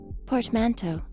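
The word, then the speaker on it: portmanteau: Portmanto.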